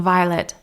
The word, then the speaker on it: Violet: And I said, your name's Violette? And she said, oh, it's Violet, but that's how I spell it.